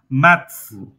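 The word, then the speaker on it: maths: এই শব্দটা এই মানে এই উচ্চারণটা একটু মানে মাথার মধ্যে রাখবেন উচ্চারণ হবে ত ছ মানে ত এর সাথে ধাক্কা খেয়ে ছয় উচ্চারণ হবে ম্যাথস ঠিক আছে ম্যাথস মানে ছ দিয়ে বাতাস বের হবে ম্যাথস ম্যাথস ম্যাথস মানে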